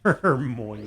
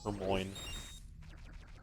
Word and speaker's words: Hermione: Hermione. I had a friend in elementary school who pronounced it Hermoine.